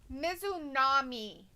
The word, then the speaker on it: Mizunami: But it's Mizunami.